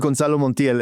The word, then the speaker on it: Gonzalo Montiel: His his name is Gonzalo Montiel.